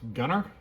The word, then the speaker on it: Gunnr: reached out to me um I believe it's pronounced Gunner gu n NR and they've got a 1